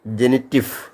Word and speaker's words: Genitiv: Letter V is pronounced in German with the sound of F.